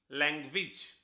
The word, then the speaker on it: language: English में AGE जिस भी वर्ड के आखिर में हो वो एज नहीं होता, वो इज हो जाता है, इसीलिए सही प्रोनाउंसिएशन हुई लैंग्वेज, और मीनिंग तो हम सभी जानते ही हैं, भाषा।